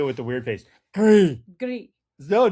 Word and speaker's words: gris: How do you say gray in French? Gris. Oh, it's spelled the same, pronounced different.